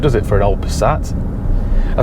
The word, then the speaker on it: Passat: to pick up a vw passat also known as a passat if you're watching this in america a passat which i always thought was a bit of a weird pronunciation anyway it's a vw passat